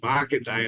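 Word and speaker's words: Markandeya: a real Hindu god it's Market day and it's spelled my name is Mark um m a r k a n d e y a and really sounds like EO like the old song Right EI EO he's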